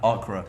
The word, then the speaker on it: Acre: It's called A Acra. Acre spelled like the English word Acre. Acra, right?